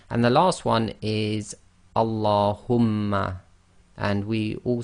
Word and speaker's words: Allahumma: So Allahumma is one of the other cases apart from the name of Allah where the lam is not pronounced normally as taraqiq. So you can't say Allahumma, you say Allahumma.